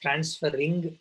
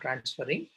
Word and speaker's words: transferrin: It says transferring. It's not transferring. It is transferrin.